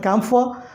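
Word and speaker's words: camphor: कपूर हवन में इस्तेमाल होता है, उसको बोलते हैं इंग्लिश में कैम्फर। What is that? कैम्फर। आर का प्रोनाउंसिएशन नेग्लेजिबल यहाँ पर भी करना है आपको।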